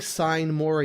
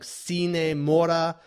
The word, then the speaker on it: Sine Mora: into I kept saying sign more AE x I believe it's pronounced it's Latin it's like cine Maura which is Latin for